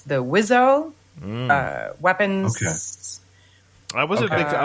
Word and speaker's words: WSO: Rio anymore it's the wizo uh weapons I wasn't I wasn't a big fan of his rap albums the the they call yeah wso but it's like pronounced wizo I guess I look